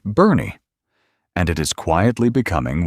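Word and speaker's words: Boerne: That town is Bourne, pronounced Bernie, and it is quietly becoming one of the most sophisticated, well-equipped, and genuinely beautiful retirement destinations in the entire state of Texas.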